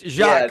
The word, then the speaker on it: Jacques: Is the S silent on your first? It's Jacques. Yeah, the S is silent.